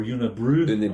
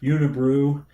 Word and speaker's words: Unibroue: It's spelled Unibroue. Right. And that looks like Unibrow to me. But it's Unibrow or Unibrew. Unibrew, whatever. Unibrew from Quebec.